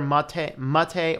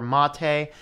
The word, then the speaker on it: MATE: We're talking about Mate. It's pronounced either Mate or Mate, depending on, you know, tomato, tomato, same principle. It's just not pronounced mate.